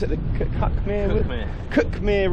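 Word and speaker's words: Cuckmere: the cut come here cookmir River there you go I pronounce it is cuck but whatever we're following that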